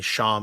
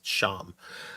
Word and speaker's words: Champs: it's spelled really weird I mean sham is Champs c-h-a-m-p-s sham so but yes in